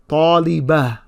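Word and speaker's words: طالبة: Now this ta doesn't really make a ta sound. It makes more of a ha sound. So I would say, for example, talibah. Talibah. So you can hear that ha sound at the end, but it's not a very strong ha sound.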